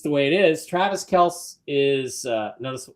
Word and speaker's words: Kelce: Travis Kelce is uh notice how I pronounced that, Jim.